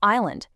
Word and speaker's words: island: Entirely dropping the L or island, completely ignoring the S.